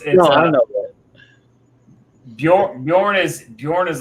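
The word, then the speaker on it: Björn: I know Yeah, it's Bjorn. Bjorn. Yeah. Bjorn? Okay. Bjorn. Yeah, the J is silent when you're saying it.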